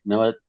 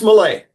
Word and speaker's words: Millet: Am I pronouncing his name right? Millet. Uh, it's Malay. It is Malay.